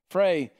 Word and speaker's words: Frey: He said, there's Asrat and how do you say his wife's name? Frey.